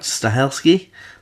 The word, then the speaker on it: Stahelski: So this film is directed by Chad Stahelski.